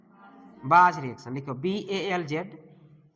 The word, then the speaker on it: Balz: बाज रिएक्शन। लिखो BALZ, Simon, bulge, bulge Simon, spelling SCHIMANN, Simon, SCHI।